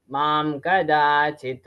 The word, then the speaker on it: मां कदाचित्: मां कदाचित् It's not mam kadachit, it is mam kadachit. मां कदाचित् मां कदाचित् Be careful while pronunciating the anuswar.